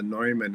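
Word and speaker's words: Neumann: Um so the when I when I created this paper called and it's it's actually pronounced the Noyman engine. It's it's named named after John von Noman.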